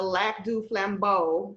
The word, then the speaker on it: Lac du Flambeau: guest musician darren thompson he is with the lac du flambeau ojibwa reservation and did i pronounce that right aaron yeah you did oh